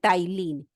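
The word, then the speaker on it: ptyalin: So saliva contain enzyme name of the enzyme is amus which is also called tylene. P T Y means P is silent here.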